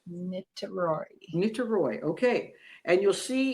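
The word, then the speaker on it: Niterói: A place called Nitaroy. It's pronounced Nitroy.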